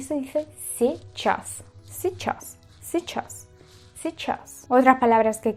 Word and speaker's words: сейчас: Si decir seichas, seichas no existe, sino se chass. Se chas, se chas, se chas. Se puede hacer una pronunciación si ya tenéis dominado mucho el ruso. Podéis pronunciarlo como los nativos a nivel de una i y una, o sea, una e y una i.